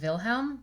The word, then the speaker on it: Wilhelm: at some point and the German pronunciation of their names I believe is Jakob and Wilhelm but I'm gonna go